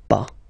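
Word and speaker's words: pas: after that pa okay we write it p s okay but as usual final s is not pronounced so it's pa okay remember one thing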